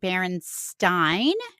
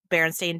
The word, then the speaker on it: Berenstain: in that moment that if it had been EIN, we probably would have pronounced it Berenstein. So I went with the stain. Okay, fair enough. Fair enough. And as almost everyone knows, Berenstain Bear books were named